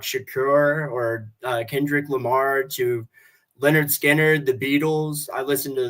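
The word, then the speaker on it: Lynyrd Skynyrd: And honestly, I've recently, probably about a month ago, I bought the Pronounced Leonard Skinner album, and I'm playing that on vinyl nonstop.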